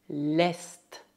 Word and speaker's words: l'est: Exceto le nord, todas as outras consoantes finais devem ser pronunciadas. Le sud, l'ouest, l'est.